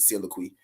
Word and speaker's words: soliloquy: And that's how you say it, soliloquy.